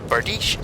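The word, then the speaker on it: bardiche: it was like oh it's pronounced bardish so every time i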